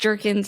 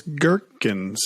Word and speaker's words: gherkins: other day said that it's not pronounced jerkins it's gherkins which is it's gherkins yes yeah so it really is yeah it's kirkin sweet jerkins is what